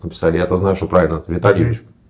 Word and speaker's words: Витальевич: Поэтому вместо того, чтобы написать Виталь, через мягкий знак написали И. Ну, женщина, которая работала, была просто... И вы все это время называете Витальевич Да, себя? именно с ударением, чтобы люди понимали, что там именно И.